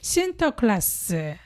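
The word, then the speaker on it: Sinterklaas: 성 니콜라우 아고 부르면서 그 네덜란 어 발음인 신터클라스 신 니콜라를 그렇게 발음 했대요 신터클라스 그가 그대로 영어가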